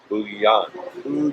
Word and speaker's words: Bujan: foo Yong be you today am and it's pronounced d oh oh why agent boo Yong Yong yeah and that is Katie now so